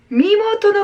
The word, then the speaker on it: 身元: 묘연해져서 케이사스와 미모토노 가쿠닝 오 이소이데이마스 까지 되겠습니다. 자, 여기도 중요한 단어 하나 나오네요. 케이사스와 경찰은, 자, 이것도 기억하세요, 여러분들. 자, 미모토라고 읽으셔야 돼요. 자, 미모토, 이거를 신이라고 읽으면 틀립니다.